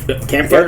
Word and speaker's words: Kampfar: Hey, you guys got to check out Kampfar. Am I pronouncing that right? Yeah, that's really good. Yeah, you're pronouncing it right, and that's really good